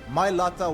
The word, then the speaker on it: Mailata: your younger sibling, knowing that they've changed the Mailata There's a few generation fucking forever?